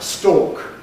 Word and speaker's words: stork: They are identical for me. They're homophones. Stalk. Stalk. But before the loss of R, they were distinct because one was stalk and one was stalk.